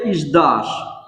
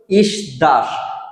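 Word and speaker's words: сдашь: এই শব্দটার উচ্চারণ প্রথমে আছে এস, তো আমরা নরমালি এটা শব্দটার উচ্চারণ করব ইসদাস, কিন্তু আসলে শব্দটার উচ্চারণ ইসদাস হবে না, এই শব্দটার উচ্চারণ হবে ইজদাস।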